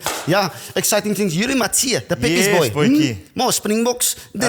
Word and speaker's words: Matthee: Yuri Matia. Yes. Yuri Matia. Mati. Matia. Matia. Okay. I think it struggles with the pronunciation when the commentator speaks it. It's pronounced Matia.